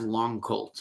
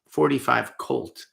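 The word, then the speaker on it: .45 Colt: and the other one is a Henry big boy and 45 long Colts or 45 Colt is the proper way to say it a lot of people say Long Colt but proper way is 45 Colt if you're talking to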